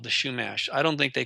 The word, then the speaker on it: Chumash: The Franciscan Brotherhood went in there and committed genocide against what they called the Chumash. I don't think they called themselves that, but it's actually pronounced Humash.